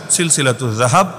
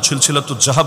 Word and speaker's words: সিলসিলাতুজ যাহাব: আমি শুনিয়ে দিচ্ছি, বইয়ের নামের অংশ হিসাবেই লেখা আছে সিলসিলাতুজ যাহাব। আপনার মতো জাহাব না, সিলসিলাতুজ জাহাব না, এটা তো উচ্চারণটাও শুদ্ধ করে করা যায়।